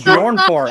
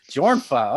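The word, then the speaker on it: Björnfot: I thought it was Bjornfor. How do you pronounce that? Jornfa. Okay.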